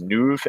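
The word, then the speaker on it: Nuvve: to grid charging company uh pronounce it as newv Nu vve is going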